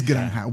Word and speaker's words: Granja: Granja. It's Granja with a J.